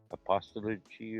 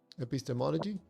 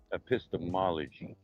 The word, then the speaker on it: epistemology: Apostoligy or whatever it was? How do you say that term? Epistemology? Epistemology.